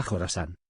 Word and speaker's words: Khorasan: que históricamente se denominó khorasan se pronuncia jorasán y que ocupa partes